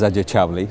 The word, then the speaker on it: Ajay Chavali: My name is Ajay Chavali, so I'll say it right again.